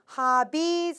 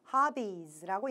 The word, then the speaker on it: hobbies: 자, 그런데 너무 hobbies 하면서 약간 V 발음이 나오는 것 같은 느낌이 들었어요. hobby는 B 할 때 우리 B 발음은요. 우리나라 말의 비읍 발음이랑 굉장히 비슷해요. 입술을 붙여가지고 hobbies라고 얘기를 해주시면 되는데 약간 떨어지는 의미 들려서 체크를 해드린 거고요.